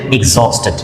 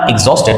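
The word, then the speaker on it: exhausted: শব্দটা হবে এক্সস্টেড। এক্সস্টেড। উচ্চারণটা এক্সস্টেড। বানানটা হবে এই এক্স এ ইউ এসটি। উচ্চারণটা হবে এক্সস্টেড। কি হবে? এক্সস্টেড।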